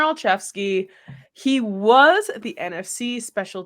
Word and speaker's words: Olszewski: be my choice but gunar alfi that's how you say it right I hope I'm saying it right um yes yep gunar alfy he was the NFC